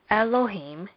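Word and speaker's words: אֱלֹהִים: part of Bereshit bara Elohim is stressed first there is a stress on the last syllable of Elohim as it says on the board hence when we pronounce this we would say Elohim second let's look at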